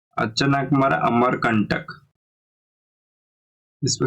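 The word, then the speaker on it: Achanakmar: में जो biosphere reserve है उसका नाम है अचन कमरा अमर कंटक इसको स्पेलिंग देखिए प्रोशन वगर में गलत हो जाए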